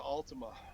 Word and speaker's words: Altima: are you in i'm in a beautiful nissan altima nissan now how do you say it ultima